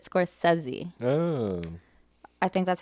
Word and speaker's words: Scorsese: yeah scorsese scorsese um i said score says you my whole life but i heard it score sessy oh i think that's